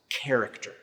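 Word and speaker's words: χαρακτήρ: The Greek word there for exact representation is the Greek word that is pronounced character.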